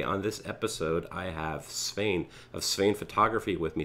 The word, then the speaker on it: Sveinn: It all comes out your nose, like you're actually blowing your nose.